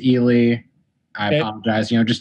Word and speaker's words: Ealey: in the epilogue and say i mispronounced it at the end it is ely i apologize you know